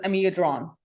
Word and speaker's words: Amiodarone: ਇੱਥੇ in Canada, it's pronounced as Amiodarone.